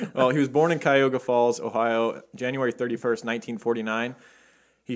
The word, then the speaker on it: Cuyahoga Falls: So Bob Berdella, he was born in Cayuga Falls. How do you say that? Cuyahoga Falls.